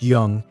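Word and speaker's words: Zheng: A mid-sized state called Jung, pronounced Young, has a dispute with the Joe king.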